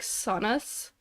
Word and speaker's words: saunas: Soft S is basically just Z. Saunas. Oh yeah, like in plural, it's basically Z.